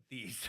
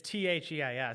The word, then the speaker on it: Theis: And for some reason, I always thought your name was Theis. No, it's Theis, so everyone always thinks that. Okay, Yeah. but it's Theis. It's pronounced Theis, Yeah. right? I always say it's like the coach, but just spelled different.